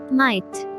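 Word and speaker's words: might: মাইট, মাইট, হতে পারে, ক্ষমতা।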